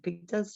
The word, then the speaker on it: pepitas: Is that how you say it? Pepitas? Pepitas, absolutely.